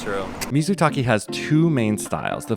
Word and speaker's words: mizutaki: oh we're having Mis we're having misu Taki which means simmering water in Japanese it's a hot pot and